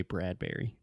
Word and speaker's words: Bradbury: wrote a lot of are you sure it's Bradbury and not bread Brewery like Burberry it's not like Burberry perhaps if you were speaking in British English or something you pronounce it differently but I've always said Ray Bradbury okay yeah hey Ray